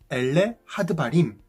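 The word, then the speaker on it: אלה הדברים: 신명기란 히브리어, 이스라엘 말로 이렇게 발음해요. 엘레 하드바림, 엘레 하드바림.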